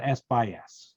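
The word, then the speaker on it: SxS: the native media for the camera is called s by s that's how it's pronounced uh and uh going up from the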